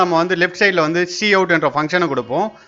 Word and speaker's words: cout: அதாவது பார்த்தீங்கன்னா லெஃப்ட் சைடில் வந்து பார்த்தீங்கன்னா சி அவுட், அதாவது COUT ஃபங்க்ஷன்ஸ் யூஸ் பண்ணுவோம். அதை எப்படி ப்ரொனவுன்ஸ் பண்ணுவோம் அப்படின்னு பார்த்தீங்கன்னா சி அவுட்ன்றதை ப்ரொனவுன்ஸ் பண்ணுவோம்.